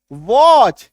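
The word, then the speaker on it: watch: अभी देखो बी ए टी सी एच टी को काट दो। टीसी एच दिखा। टी को काट दिए। बैच एस सी आर टी सी एच स्क्रैच डब्ल्यू ए टी सी एच वॉच क्यों क्योंकि टी को काटना है टी को मान के चलो है ही नहीं एच आई टी सी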